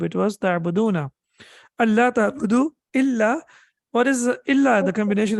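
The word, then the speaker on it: إلا: is read as Yeah, illa. the noon gets dropped in. Gets dropped. Yeah, the pronunciation of the noon gets dropped, right? Yeah. So that's why it becomes Allah, an plus la, that no, that don't.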